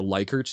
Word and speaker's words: Likert: with, but so OCD, they typically use what's called a Likert scale. Or Likert, you may also heard it pronounced as L-I-K-E-R-T, which is basically the,